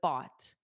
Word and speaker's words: bought: So, it's bought. Bought. A student asked me about the pronunciation. Just remember it's exactly the same as this. Like a chatbot bot. A robot. Bot bot. Exactly the same pronunciation.